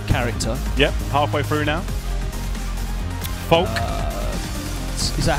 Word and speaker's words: Falke: 1 2 third character yep halfway through now poke is that how it's pronounced yep poke fault I saw the pronounce